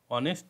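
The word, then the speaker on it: honest: সৎ ব্যক্তি তো দেখেন অনেস্ট এখানে কিন্তু এইচ এ উচ্চারণ হয় নাই যদি এইচ এ উচ্চারণ হতো তাহলে কিন্তু এখানে অনেস্ট উচ্চারণ হতো তাহলে হতো অনেস্ট যেহেতু এখানে এইচ এর উচ্চারণ হয় নাই ও থেকে উচ্চারণ হয়েছে অর্থাৎ অনেস্ট হয়েছে এইজন্য আপনাদেরকে কি করতে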